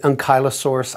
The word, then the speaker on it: Ankylosaurus: In any case, I've been reading about Ankylosaurus, which I think should have been pronounced closer to hanky instead of unky. You're right. Some people pronounce it Ankylosaurus.